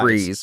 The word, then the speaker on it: Fries: concern is how delicious his name is spelled the freeze it's it's spelled fries yeah that's right the actual one yeah that when he's not Mr free it's Victor Victor freeze Victor Fries Victor I